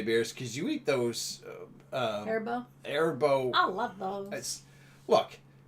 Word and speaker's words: Haribo: she eats those Haribo ones, and that is the proper pronunciation, right? Haribo, yeah.